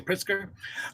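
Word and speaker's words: Pritzker: pritz pritzer I think is how you say priter um he had a lot to say about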